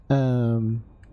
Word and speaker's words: Herb: Herb, yeah, the H is silent.